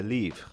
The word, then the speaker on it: Livre: Cristiano Ronaldo, through his 30% stake in a media conglomerate type thing called Media Livre, with the French pronunciation, even though it's Portuguese.